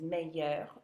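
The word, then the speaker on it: meilleurs: So that means meilleur with an S, and we're not pronouncing the S.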